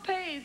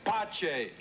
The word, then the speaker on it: Pace: Pace, you said your name was Father Pace. In English. In Italiano, mi nome si pronuncia Pace.